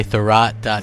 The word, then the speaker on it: Thurrott: and according to and I've been told this pronounced this way the rot com there's some more details about Microsoft one